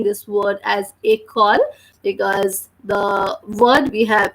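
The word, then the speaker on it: école: next one it called it is called a call which means school in English and the spelling is EC o le the sound of later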